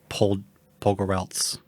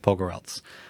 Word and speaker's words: Pogorelc: But yeah, we get to interview my friend Carlo Rosillo and his friend and producer, directing partner, Alison Pogorelc. I said it right. Yeah, you did. Pogorelc.